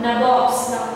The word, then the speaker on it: nabobs: So company officials become nabobs. Nabobs. So N-A-B-O-B-S. N-A-B-O-B-S. Nabobs. They used to pronounce like this, nabobs.